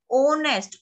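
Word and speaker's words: honest: ओनेस्ट, ओनेस्ट में एच की sound नहीं आती, एच को अंडरलाइन कर देंगे.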